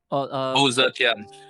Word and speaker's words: Wu Zetian: That China exclusive hero, how do you pronounce that one? Wu Zetian.